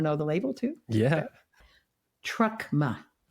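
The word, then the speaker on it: Truckma: the label too yeah trucka how do you spell it t r u c k m a like Karma only with trucks that's so good the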